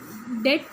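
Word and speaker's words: debt: वैसे ही जब हम डेट बोलते हैं तो उसमें बी जो है वो साइलेंट हो जाता है, लेकिन वो स्पेलिंग में ऑफकोर्स कंसिडर किया जाता है, फाइन।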